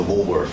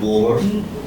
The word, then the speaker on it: Woolworth: So you obviously, and we can fast forward to the Woolworth incident. You say you're from New York and you're pronouncing that final TH as an F all the time. Woolworth.